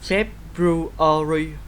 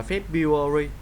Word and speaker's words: February: February, cái âm R này khỏi đi.